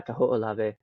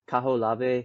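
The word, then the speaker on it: Kahoʻolawe: Oh God, I can't ever pronounce this. Kaho'olave, Kaho'olave. Yeah, Kaho'olave.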